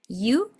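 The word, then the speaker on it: よ: Aires o de Montevideo, no pronuncies esta Y como si fuera una SH. Nosotros tenemos la tendencia a decir ya fui o yo soy y es como si suena como si fuera una SH. Bueno, no, en realidad es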